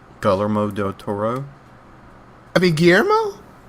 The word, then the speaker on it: Guillermo: saying, but I'm like, I don't think you're supposed to pronounce all those. Like, if it's two L's, it's supposed to be, in Spanish, that kind of makes a different sound. Like, maybe. Kind of makes a Y sound.